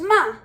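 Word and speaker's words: מה: what's up so the word for what is pronounced ma you can use it on its own or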